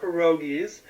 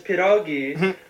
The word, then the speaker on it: pierogi: a not every Polish person has to love pierogies B you're pronouncing it wrong it's piragi and C um is it a bag of